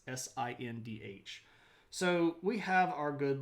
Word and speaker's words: Sindh: It's Sindh.